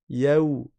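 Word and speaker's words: يوم: Premièrement, ya on a un harf lin, c'est le wa avecun qui est précédé d'une fatha. Ça veut dire qu'on va passer du ya au wa avec souplesse. Yaou yaou. On va pas dire y yo yo.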